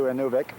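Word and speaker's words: Inuvik: We go another 200, 240 mi, something like that, up to Inuvic or Inuvic, whichever way you want to pronounce it, which is just short of the Arctic Ocean.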